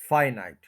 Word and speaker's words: finite: और इसका जो स्टार्ट में स्ट्रेस है, ये फर्स्ट सिलेबल पे है, फाइनाइट।